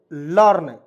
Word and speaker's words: learn: रूप में करेंगे और यहां पे आर है इसको हम लोग छोड़ते हैं ना जी तो इसको